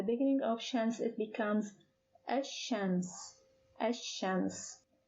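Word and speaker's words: الشمس: of chance it becomes ashames chance please notice that the pronunciation of the lam in the article has changed and the first word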